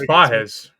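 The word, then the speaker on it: Pagés: Yeah, where's Pages? Where's our Pajes? 26. It is Pajes. That's how they say it.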